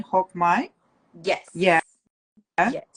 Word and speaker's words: Hoc Mai: Hoc Mai? Yeah, Yes. Yes. Hoc Mai Scholarship as well as Advanced Pelvic Health Training.